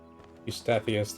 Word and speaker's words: Eustathius: Eustathius, that's how it's pronounced.